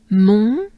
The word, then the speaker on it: montagne: Mont, montagne, nya, nya, nya, and it ends really with a nya. So it's with a French a, agne, tagne, montagne, which means mountain.